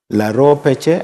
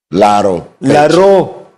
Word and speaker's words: Laro Peche: I hope by the end of this show you can pronounce it properly. Laro Peche. Laro Peche. Okay. The other part is called Laro. This other part is called Peche.